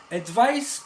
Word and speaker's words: advice: slightly different in summation advice with the sound of s is a noun you can give your